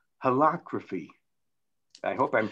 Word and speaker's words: holacracy: They have a system called holacracy. I hope I'm pronouncing it well. H-O-L-A, it's not democracy, it's holacracy or something like that.